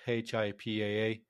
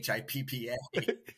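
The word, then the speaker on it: HIPAA: opened up the conversation I called it hi paa but it seems like the standard is to pronounce it Hipp right so apologies to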